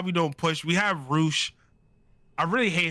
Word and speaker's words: Rush: don't push we have Ro I really hate his name is spelled rush but we call him Ro but okay I know